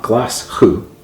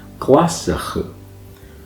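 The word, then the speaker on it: Glaschu: It's not Glasgow, even though it's spelled that way, it's Glasgow.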